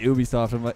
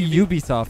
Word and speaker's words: Ubisoft: the same the word the letter U you don't say Ubisoft though no one says Ubisoft Ubisoft I say Ubisoft what a block that